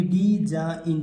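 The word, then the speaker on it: design: जी आया है देखिए एन से पहले जी आया है और ऐसे जो वर्ड होते हैं इनको क्या होता है जी हमेशा साइलेंट होता है यानी अबकी बार किसका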